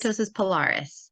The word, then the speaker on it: keratosis pilaris: So Am I pronouncing that right? Keratosis pilaris. keratosis pilaris.